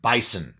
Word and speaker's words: Bisson: Terry Bisson bison boson I don't know how to pronounce his name b-i-s-s-o-n bison I think it is which is basically